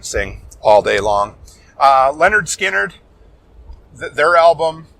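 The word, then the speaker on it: Lynyrd Skynyrd: to Billy Corgan sing all day long uh Leonard skinnard their album It's pronounced Leonard skinnard or self-titled whatever you want to call it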